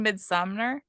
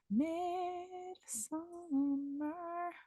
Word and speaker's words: Midsommar: I have a pin of it behind me, but Midsummer. Okay, so it's spelled Midsommar. Mm-hmm.